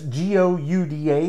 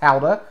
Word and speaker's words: Gouda: mousse signature halda that's g-o-u-d-a that is pronounced alda that word is dutch it is not gouda it is how that